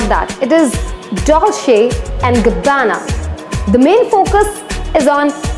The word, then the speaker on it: Dolce & Gabbana: is Dolce and Gabbana many people call it Dulce or vana no it is not that it is Dolce & Gabbana the main focus is on but come on